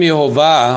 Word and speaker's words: Yehovah: how different is because with the name yehovah or Jehovah we have an it means a y okay you have y he is an H okay is an H VAV is a v as I told you before V NH H again oh he again is an H okay or y h VH VH okay and the vowels of